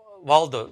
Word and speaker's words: Waldo: really important uh waldo did i pronounce that right yeah yeah you got it like where's waldo well done okay and